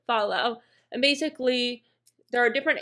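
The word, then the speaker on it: Fahlo: real quick it's called follow and it's like f-a-h-o-o but like I feel like you would pronounce it follow and basically there are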